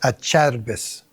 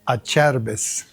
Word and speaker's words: Acerbis: They have a service stand in Italian. It's pronounced Acerbis. (What?) I said in Italian, it's pronounced Acerbis. But I just say a Acerbis.